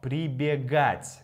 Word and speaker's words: прибегать: Бегать плюс при равно прибегать. Да, заметьте, здесь у нас меняется ударение.